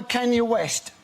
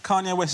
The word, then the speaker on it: Kanye West: the words spoken by Kenya West are about Kenya West? Can you The way you pronounce Kanye West is incredible. It's like you're asking somebody if they're able to west LIKE Is